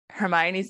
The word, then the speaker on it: Hermione: First of all, before I go on, when I was reading these books, I pronounced Hermione's name as Hermione.